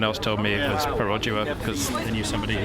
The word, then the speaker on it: Perodua: diminutive red car, which I believe we've all been pronouncing the manufacturer's name wrong. I would have said it was a Perodua, but what is it actually? Well, as of this morning, I've discovered it's Perodua, but then someone else told